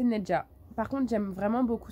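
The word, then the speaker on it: Nezha: Ben, moi, je le lis Nzha. Parce qu'en arabe, c'est Nzha. C'est un prénom, je connais des gens qui s'appellent Nzha. J'ai plein de gens dans la famille qui s'appellent Nzha. Donc, moi, je le prononce Nzha et c'est absolument pas le cas. Donc, c'est Nedja.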